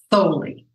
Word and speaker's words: Thoele: write the name with the name Sue Patton Foley it's holy with the list oh okay that